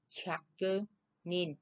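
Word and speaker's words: 百人: vậy thì đọc là Chakke Nin, số 1 ha. Chakke Nin. Đây. Chakke Nin. Nhớ ha, ở đây đếm người chúng ta là Nin nha, Nin chứ không phải là Jin nha.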